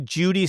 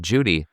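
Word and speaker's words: Jowday: I believe Mark Frost has said it is j o day is the you know, proper way to say it.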